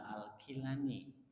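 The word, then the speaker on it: al-Jilani: Abdul Qadir aljailani bisa aljilani bisa alqilani di beberapa tulisan redaksi menggunakan kalimah alqilani Jadi kalau Abdul Qadir alqilani sama dengan aljilani jadi dalam lidah beberapa daerah Arab Jilan itu diucapkan kilan J kalau kita menemukan tulisan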